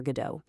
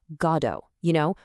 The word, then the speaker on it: Godot: But Samuel Beckett, who wrote the play in French first, he pronounced it Godot, stressing the end.